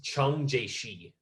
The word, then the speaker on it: Chiang Kai-shek: most friendly with um it's not gonna be spelled the way i'm gonna say it i learned how to say it from a chinese friend of mine because i wanted to know yeah his name was chung jaishi okay this